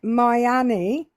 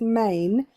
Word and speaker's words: Maine: And I was a bit suspicious until we got to Maine, when they pronounced it Miami.